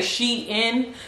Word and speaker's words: SHEIN: ever some people say she in some people say Sheen I'm one of those that say Sheen just because I maybe it's like she in the new fashion